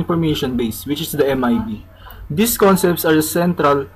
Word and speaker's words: MIB: The Management Information Base or the MIBs. A device's management information is maintained by the management agent in the Managed Device Management Information Base or MIB. Rhymes with read.